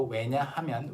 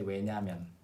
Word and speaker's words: 왜냐하면: And in spoken Korean, although 왜냐하면 is 4 syllables, in spoken Korean people often say 왜냐면. Okay? 왜냐면.